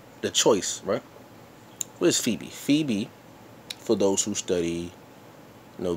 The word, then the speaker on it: Phoebe: no Greek Roman mythology Phoebe which means bright if you look at the look at the word is spelled th 0 ebe that pho is how you know include to come out light like photo CB in